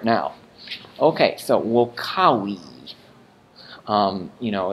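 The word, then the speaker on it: vocāvī: As you're saying, wokawi, notice how when I say we, the W sound, my lips go down, close, and the sound ceases.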